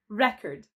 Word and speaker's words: record: How about record and record? One of them is a noun. Which one is it? Make a guess. It is record.